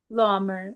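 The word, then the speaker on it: Laumer: Is it Lommer? Lmer is how you say, but Lmer, La Mer, however.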